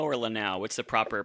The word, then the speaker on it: Lanau: vowels when out but the proper French way it would be and nobody I don't